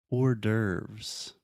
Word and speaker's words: hors d'oeuvres: We also have the word hors d'oeuvres. So imagine the word order, like mandato, and then with the VS at the end.